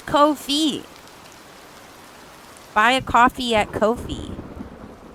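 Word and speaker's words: Ko-fi: Coffee, you're in the way of Kofi. It's Kofi.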